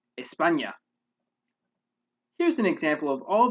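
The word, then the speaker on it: España: letter enye which is the end with the tilde there's technically no sound in english although we do have a similar sound in some words such as the n in canyon an example of a word with this sound in spanish is espana here's an example of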